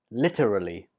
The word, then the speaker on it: literally: it is literally literally this word has four syllables lit a really literally and the stress is on the first syllable there are literally hundreds